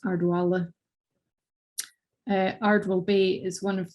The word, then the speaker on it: Ardwell: other dialects in Ireland, where the BH in Vala, as you would pronounce it in ordinary Scottish Gaelic, might have been closer to w, a W sound. And this is where the w in Ardwell comes from, rather than the v that you see in Ardeville below.